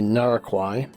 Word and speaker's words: Narquai: I mispronounced the name of the ranch that we were staying at yesterday. It's actually Narquai and um we will be doing some very interesting things this evening.